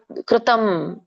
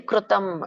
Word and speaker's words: ಕೃತಂ: ತಪಸ್ತಪ್ತಂ ಸ್ತಪ್ತಂ ಕೃತಂ. ಕ್ರೂ ಅಂತ ಹೇಳಿ ಬಳಸಬೇಡಿ, ಕೃತಂ. ಸಾಮಾನ್ಯವಾಗಿ ಹೇಗೆ ಬಾಯಿ ಬರುತ್ತೋ ಕೃತಂ ಹಾಗೆ ಹೇಳಿ.